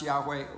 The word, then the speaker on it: Yahweh: we don't know that it's pronounced Yahweh. We think it probably was, but we have no proof because nobody ever said it aloud and they never put vowel pointings with those 4 consonants.